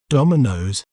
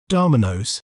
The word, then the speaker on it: Domino's: In British accent, we may pronounce it as Domino's, Domino's, door, me, nose, Domino's. While in American accent, we may pronounce it as Domino's, Domino's, da, me, nose, Domino's.